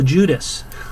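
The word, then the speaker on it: Loguidice: It's Bill Judas. That's Bill Judas.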